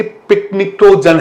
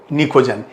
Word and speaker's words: pnictogen: और मैंने आपको बताया है कि दिखता तो ऐसा लगता है कि पिकनिक्टोजन है, लेकिन प्रोनाउंसिएशन इसका क्या है? निकोजन, PNICTOGEN।